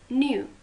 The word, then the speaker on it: knew: New, k is silent.